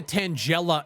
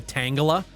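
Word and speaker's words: Tangela: ] looked like a tangella in behind my monitors and yes I had to look up the prononciation for that Pokemon my entire life I've been calling it a Tanga so that's cool the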